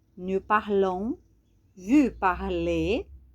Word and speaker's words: parlez: Nous parlons, vous parlez. Também não pronunciamos o Z, não precisamos consoantes finais, né?